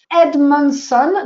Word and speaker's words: Edmondson: alors pardon c'est alors je vais le prononcer à la française comme ça ça sera plus simple ami a M y Edmondson donc E D m